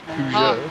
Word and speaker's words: Peugeot: It's the Pugot. I know, but it's like, it's spelled... It's a Pugioto. It's Peugeot.